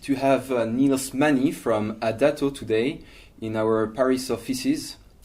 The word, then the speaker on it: A-Dato: Niels Mani from A-Dato or A-Dato, depends on how you want to pronounce it. A-Dato in principle, because it means you're always in motion.